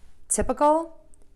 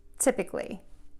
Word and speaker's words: typical: of these words but instead of saying uh we're gonna say ik Tip uh Kl tip ik Li typical typically typical typically and let me give